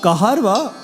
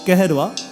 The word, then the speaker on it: Kaharva: In Kaharva, or some pronounce it like Keherva, there are so many other variations.